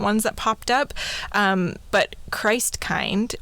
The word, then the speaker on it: Christkind: They had a few different ones that popped up, but Christkind, or Christkind, as it would be pronounced there, sometimes also called Christkindl.